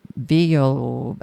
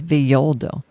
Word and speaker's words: Villoldo: Alberto Villoldo, I don't know how to pronounce this. Villoldo? It's Spanish, so I'm going to say it's Villoldo.